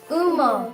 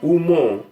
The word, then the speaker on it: Umo: So we have Umo. Umo. Umo. Umo. Very good. That's the pronunciation. I Sorry. want to emphasize on the pronunciation so that we don't get it wrong.